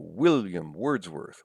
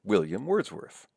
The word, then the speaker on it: William Wordsworth: And you can hear it in names too. William Wordsworth, William Wordsworth. Or Emily Dickinson, Emily Dickinson. Stresses on the first syllables, I think, in both of those cases, right?